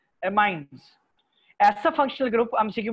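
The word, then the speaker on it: amines: इस फैमिली को हम कहते हैं एमाइन्स, ठीक है, अमीन जो है, अमीन्स भी कहा जाता है, एमाइन्स, लेकिन इसको more appropriate word pronunciation is एमाइन्स।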